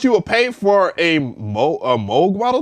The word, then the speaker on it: Moog: Like that's the nature of like the Moog or the Moog. I'm sorry, Moog. I do apologize for saying your name wrong, but the Moog Model D.